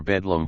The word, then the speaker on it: Bethlehem: and the united states in england the word is pronounced maudlin whence maudlin adjective unpleasantly sentimental with their maudlin for magdalene and their bedlam for bethlehem the english may justly boast